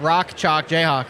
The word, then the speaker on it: Rock Chalk Jayhawk: That's the Rock jock Jayhawk. Rock Chalk Jayhawk. Rock chalk Jayhawk. That's right. Yes. You're saying it right.